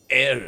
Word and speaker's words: ere: Air is pronounced air, and it means before.